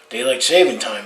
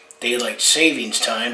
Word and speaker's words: daylight saving time: Daylight saving time is called. Everyone mispronounces it as daylight savings time, but the official name is daylight saving time.